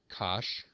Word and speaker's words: cosh: the negative x divided by 2 hyperbolic cosine pronounced cosh cosh of X is e to the X plus